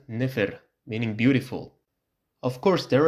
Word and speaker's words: nfr: For example, this word, if it's read as it's written, nfr, it sounds weird, so it's read as nefer, meaning beautiful.